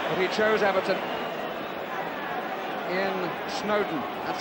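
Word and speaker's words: Snodin: Ian Snowdon, that's how it's pronounced, although it's spelled S-N-O-D-I-N. Snowdon, as in Lord and Mountain, was the way it was put to me.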